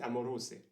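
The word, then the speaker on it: amoroso: expérience en italien mais apparemment il faut prononcer à moroset ce qui rime pas avec Rose donc c'est une rime sur papier plutôt que une rime à l'oreille on peut remarquer aussi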